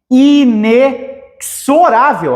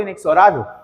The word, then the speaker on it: inexorável: agora se liga ó inexorável Alguém falou inexorável tá errado aluno inexorável esse X tem som de z Então olha como faz